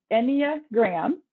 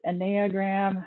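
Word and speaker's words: Enneagram: any of what um the enya graham is how it's pronounced but it's potato potato i've heard it enagram however you'd prefer it's greek and really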